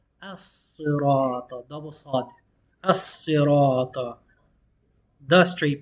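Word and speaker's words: الصِّرَاطَ: You're not going to pronounce the lam because it's a sun letter. Al-Sirata. As-Sirata.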